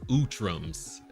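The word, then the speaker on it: Utrom: Lord Beer says Utrums is how it's pronounced.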